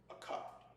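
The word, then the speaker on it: אחד: Akkad, right?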